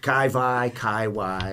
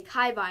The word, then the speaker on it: Kai Wai: Wai or I'll say Kai Wai and they'll be like, but it's spelled with a W. And I'm just like, but it's Hawaiian, so I just find it easier to say Kai Wai.